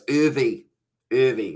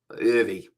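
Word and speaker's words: Erwee: you said is right so it's irvi irvy right i'm going to remember that because i don't know why i say uh i don't know where that pronunciation comes from ivy right that one's going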